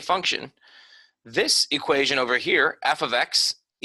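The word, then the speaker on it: f(x): this thing right here this F parentheses x thing it's pronounced f of x so it's not just FX it's F ofx and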